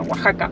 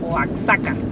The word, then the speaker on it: Oaxaca: pensé que se decía Oaxaca, porque se escribe con X. Pero bueno, acá la X en este caso se pronuncia como una J. Y hemos llegado finalmente a Oaxaca.